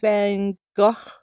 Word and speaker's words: Van Gogh: version of almond blossoms almond blossoms created by van gaach is how it's actually pronounced more even though i say van gogh all the time it's really benga bengal that's